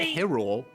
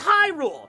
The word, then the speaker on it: Hyrule: It It's not Hule. Yeah, it's not Hule. It's Hyrule.